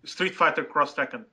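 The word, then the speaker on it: Street Fighter X Tekken: there earlier it was Street Fighter 4X Tekken Street Fighter cross Tekken yeah that's how they they spell it cross Tekken cross Tekken yeah I want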